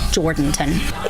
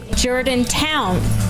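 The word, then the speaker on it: Jourdanton: The ones that we usually hear are Jordanton. Or as it was today with an out-of-town caller. Jordantown. Which is wrong. Which is totally wrong.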